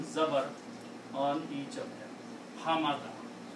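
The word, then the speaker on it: حَمَدَ: combine them together, and put a three fathas on one of each, this will be pronounced as Ha, Ma, Da. Ha, Ma, Da.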